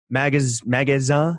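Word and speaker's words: Magasin: Like, why do you think that magazine? How do you say it? Magazine. See, Lawrence, it's on Magazine. Yeah. Magazine. It just means store. Just means store in French.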